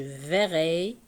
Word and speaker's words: verrai: Ça change de radical, ça devient je verrai. Donc, puisque E est suivi de deux consonnes identiques, ce sont les deux R, il se prononce et.